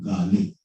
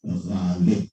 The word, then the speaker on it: Ghalib: देखिए, Galib, it is not Galib, it is not Galib, it is Galib. It's a guttural sound.